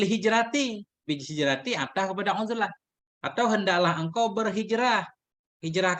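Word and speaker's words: عزلة: Kenapa harus beruzlah? Bacanya uzlah Ustaz.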